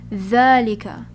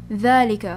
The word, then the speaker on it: ذلك: No alif, but it is pronounced as if it has alif. Okay, that's just how we pronounce it. So instead of ذلك, we pronounce it as ذلك. ذلك.